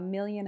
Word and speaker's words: million: So here, A just becomes a, and million, mil is a stressed syllable, so it gets its full vowel sound, I, but then yun just gets the schwa, yun.